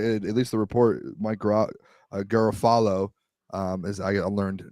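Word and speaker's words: Mike Garafolo: Um, a lot of teams, it sounds like, at least the report, Mike Gerafalo, um, is I I learned recently is how you pronounce his name, said that they're staying put.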